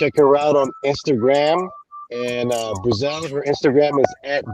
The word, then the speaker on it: Breazelle: yes so as you say my name is brazil and i've been doing music they never feel